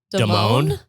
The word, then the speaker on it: Damon: yeah and she said she pronounced her last name is it's Kia Deone Deone I think it was Deone yeah also shout out